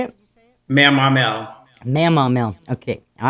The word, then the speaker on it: Mamaw: So it's It's not it's Mama. Is that how you say it? Mamaw.